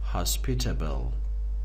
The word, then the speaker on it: hospitable: درسته که پسوند تیبل داره، اما این تیبل خونده نمیشه اینجا. کلمات ممکنه به تنهایی تلفظ داشته باشن، وقتی در حالت پسوند قرار میگیرن تلفظش ممکنه عوض بشه، مثل اینجا که تلفظش میشه تبل.